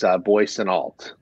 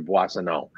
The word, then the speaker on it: Boissonneault: The Americanized version is Boissonneault, and the French version is a little softer, Boissonneault. And it is drink of water. The EAU is water.